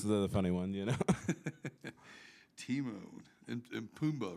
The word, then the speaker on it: Timon: kind of like the Lion King. Yeah? Yeah. Timon. Yeah. Oh, yeah. Yeah, he was one of my favorites, right? Yeah, it's the funny one, you know. Timon.